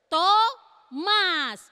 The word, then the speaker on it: Thomas: Apa bacanya? Thomas. Bukan tomat ya, Thomas.